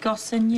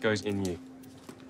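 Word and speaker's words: Goosens: Goss in you. It's pronounced goes in you.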